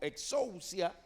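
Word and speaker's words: ἐξουσία: se conoce como autoridades la palabra autoridad es una palabra que en griego se pronuncia como exousia y usted sabe de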